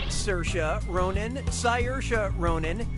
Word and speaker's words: Saoirse: this is and answer damn preferred answer is Saoirse says that's the correct way to say her